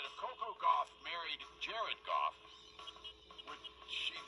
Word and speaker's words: Gauff: I said, if Coco Gauff married Jared Goff, would she then be Coco Gauff Goff? She'd have to hyphenate it, right? Yeah, Coco Gauff Goff. They're spelled differently, but still, it's pronounced the same.